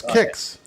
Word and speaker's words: Kix: just for Su sign it's pronounce kicks kicks never heard of it kicks kicks yeah kicks remember the Cal